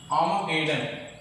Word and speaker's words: Armageddon: लेकिन American pronunciation में जो है आर्मागेडन बोलते हैं, आर भी प्रोनाउंस होता है. ब्रिटिश में आर्मागेडन.